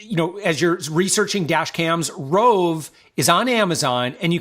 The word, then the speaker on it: Roav: So again, as you're researching dash cams, Rove is on Amazon, and you can spell it.